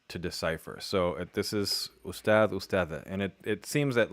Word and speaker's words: أستاذة: أستاذة Ustad. Okay, so the H is not teacher, pronounced.